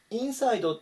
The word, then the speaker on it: inside: 番からですねこの単語はインサイドドっていう風に最初強く読んでもいいですし差のところ強く読んでも大丈夫です今回はインサイドの方で読んでいきますね内側にと